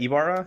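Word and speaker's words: Ybarra: So after Yoshida said that, Mike, I think it's just Barra is his last name, but it's spelled Mikey Y-B. Was that Ibarra? I think so. Just Ibarra. That makes sense too. Y-B-A-R-R-A.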